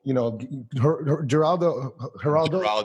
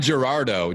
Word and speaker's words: Geraldo: I just got to make sure I maintain this beautiful, Geraldo. It's not Gerardo. Gerardo is Rico Suave. Geraldo is the Geraldo.